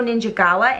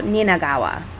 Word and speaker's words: Ninagawa: the scottish king yukio ninja gawa in 1980. i was close i think it's pronounced yukio ninagawa i put a j in there of course orson welles